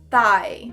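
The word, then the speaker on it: thigh: i g h pronunciar thai o pai que a mesma pronúncia de comida tailandesa tayfur sai aí fica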